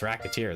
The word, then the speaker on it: Recettear: Mispronounce it even slightly, and yeah, it's Recettear. That's the joke.